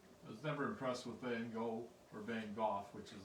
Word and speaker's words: Van Gogh: Because normally the way it's spelled, it to 90% of the world will say Van Gogh.